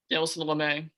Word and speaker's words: Lamet: You still got Fernando Tatis, Manny Machado, Will Myers, Jake Cronenworth, Lamat. How do you pronounce his name? Dinelson Lamet.